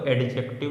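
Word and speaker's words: adjective: अब कुछ बच्चे बोलेंगे सर इसमें डी भी तो आ रहा है तो एडजेक्टिव भी तो पढ़ेंगे। नहीं, एडजेक्टिव, इसमें डी जो होता है साइलेंट होता है।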